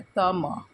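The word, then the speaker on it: त्वम्: म में हलंत मतलब ये म अगर म में हलंत नहीं होता तब हम त म उच्चारण करते। संस्कृत में ऐसा ही उच्चारण किया जाता है। तम लेकिन इसमें हलंत है बोल के हम तम उच्चारण किए और आवाम आ मतलब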